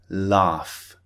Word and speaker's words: laugh: important point to remember sometimes the F sound is produced when there's a GH spelling for example laugh or cough kof is